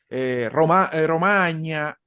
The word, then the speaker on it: Romagna: un nombre propio también, Romagna, la R se relaja un poquito. Hay que relajarle un poquito la R porque si no, realmente no está siguiendo bien la pronunciación italiana.